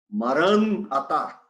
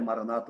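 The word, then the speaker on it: Maran Atá: Maran-atá. Eu disse em aramaico, Maranata, traduzido como Maranata, não é Maranata, o nome a pronúncia correta são duas palavras.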